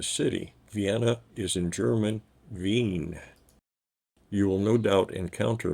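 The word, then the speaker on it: Wien: a bit confusing as the name of the city is V there is a difference between the two the trick is the two-letter combination EI is always pronounced I and I E is e so the second letter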